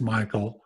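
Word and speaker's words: Mihail: of his last name it's pronounced Michael but it's spelled m i h a i l and the web address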